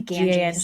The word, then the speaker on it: Ganges: on I forgot to look up how to pronounce the name of the river. The Ganges G- S Ganges.